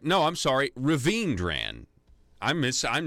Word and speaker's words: Raveendran: nine who is Robin Raven dran Raven dran that's right no I'm sorry Raveendran I'm miss I'm not